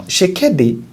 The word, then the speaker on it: Tshisekedi: know whether that she's, I think that T is silent now. Tshisekedi, the president of DR